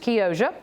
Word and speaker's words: Chioggia: It is actually spelled C-H-I-O-G-G-A, but I was corrected by a young lady at the farmer's market who said it's pronounced Chioggia, and it is a peppermint striped beet.